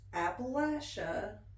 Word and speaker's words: Appalachia: I mean, the only people who really know that it's Appalachia, an Appalachian mountain, is those of us that live here.